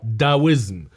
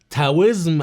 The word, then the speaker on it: Taoism: تعريف الطاوية: اسم الديانة باللغة الإنجليزية تنطق أحيانا بحرف التي تاويزم، أو بحرف الدي داويزم، وباللغة العربية تنطق أحيانا بالطاء الطاوية، أو بالتاء التاوية، أو بالدال الداوية. غالبا النطق الأصح بحرف التي أو بحرف التاء تاويزم أو التاوية.